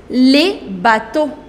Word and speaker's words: bateaux: However, this X is not pronounced. You do not pronounce that. The pronunciation of singular and plural, that remains same.